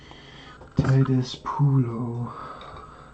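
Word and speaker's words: Titus Pullo: Titus Pulo is the pronunciation, and Lucius Varanus is the other.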